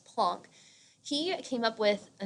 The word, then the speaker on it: Planck: his name is max plunk he is German and that's why his last name isn't pronounced planck its plunk he came up with